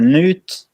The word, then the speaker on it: Knut: like two first names cuz my name is Newt but yes you have truly tried boomer so they try to just say the first part which is K and UT and most people say nuts or Newt or something like that so not can you